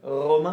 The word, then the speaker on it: Romain: I just Romain. Yeah, actually, maybe a bit. A little bit? Romain.